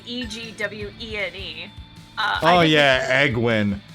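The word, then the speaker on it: Egwene: spelled e-g-w-e-n-e oh yeah egwin is not eggwin it's like a queen yeah I've yeah that's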